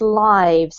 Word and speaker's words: lives: We pronounce this lives. It's not the verb, it's the noun, so it's the same pronunciation as TV live or a live sample, okay?